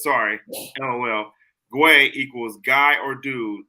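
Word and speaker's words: güey: crw says sorry lol guay equals guy or dude but you pronounce it like way yeah no I understood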